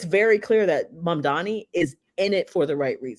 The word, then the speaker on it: Mamdani: There are like in your brain wiring, you may see Mamdani and you may pronounce it Mandami.